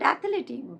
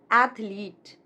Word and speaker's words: athlete: This is not athlete. It is not athlete, but athlete. Athlete.